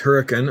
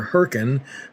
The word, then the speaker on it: Hurricane: George into Hurricane, and yes, I'm told that it's pronounced Hurricane or Hurricane, but never Hurricane.